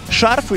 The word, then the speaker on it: шарфы: Шарфы или шарфы? Шарфы, наверное. Шарфы, да? Шарфы. Шарфы. Шарфы, да? Ударение на А.